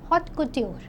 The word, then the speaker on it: haute couture: Haute if we say it generally by English, but it is not haute since it's a French term, so it's pronounced a little different way. It's pronounced as haute couture.